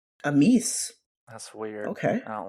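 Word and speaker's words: Amys: Let's Google how it's supposed to be pronounced. Let's see. Amis. Amis.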